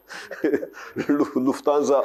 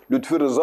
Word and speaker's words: Lufthansa: Lufthansa Alman hava yollarının adı. O bizim emekçi dostumuz, işçimiz onu Lütfi Rıza olarak telaffuz ediyordu.